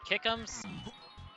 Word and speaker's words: Kickhams: I am Kickhams. Yes, that's is how you pronounce my name or username.